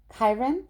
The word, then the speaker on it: Chiron: Chiron?